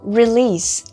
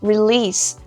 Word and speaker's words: release: Como, por exemplo, release. Release. A pronúncia termina no S, ó.